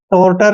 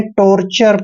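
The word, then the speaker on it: torture: उच्चारण चर करते हैं जब भी टी ओ आर ई चारों लेटर इकट्ठे आते हैं तो इसका आपने चर पढ़ना है टॉर्टर नहीं पढ़ना है टॉर्चर पढ़ना है दोस्तों टॉर्चर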